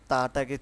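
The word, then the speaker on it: ت: তা উচ্চারণ করব হচ্ছে জিহ্বার আগা থেকে।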